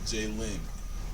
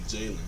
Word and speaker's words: Jayland: Jalen. You sound like you were saying Jalen. You don't want it. I'm saying Jalen. Like it's L-A-N.